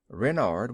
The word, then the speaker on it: Renard: official name is king renard iv renard with the accent on the wren what's wren asked button